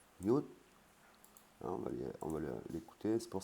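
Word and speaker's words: หยุด: Yut, arrêter, avec ron hip devant. Donc ça se prononce yut.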